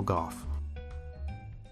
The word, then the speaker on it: Gough: It is Gough, right? I'm not saying it wrong. You are. I am saying it wrong? Saying it right.